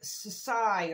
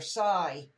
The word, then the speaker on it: Csy: it I love and I think it's pronounced saai or Sai Sai Art Gallery extreme glitter